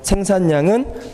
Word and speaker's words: 생산량: 생산량은 장음이 아니에요. 예, 단음입니다.